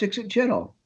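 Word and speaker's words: ixitxachitl: And one of the old guys said, no, it's Ixit Chittle.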